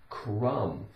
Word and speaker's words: crumb: CR CR CR Crum u m with a silent B again we have um like a num but crumb now what is a